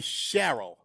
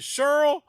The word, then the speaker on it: Cheryl: In New York, it would be Cheryl. So is it Cheryl that rhymes with Pearl or Cheryl that rhymes with Carol?